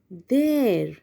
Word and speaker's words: there: जब आप कंफ्यूज हो या भूल जाए वापस कि कैसे प्रोनाउंस करना है, तो रिमेंबर दिस रेफरेंस, मेरा पैर। बस एग्जैक्टली उसी नोशन, उसी डिक्शन से आपको बात करनी है, उसी प्रोनंसिएशन से आपको प्रोनाउंस करना है। देर, मेरा पैर, देर।